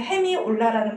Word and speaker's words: 헤미올라: 우리가 헤미올라 그래서 이탈리아 발음 나는 대로 읽으시면 헤미올라라는 발음이 되는데 어떤 특정한 박자 안에서